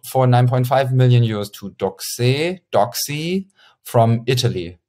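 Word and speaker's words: Doxee: 9.5 million euros to Doxy from Italy. Doxy, I pronounce it Doxy because I thought Italian and because it's written D-O-X-E-E.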